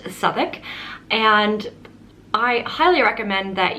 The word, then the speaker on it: Southwark: it's located in an area of london called southik which looks like it's pronounced southwark but it is actually pronounced southwark and i highly recommend that you go and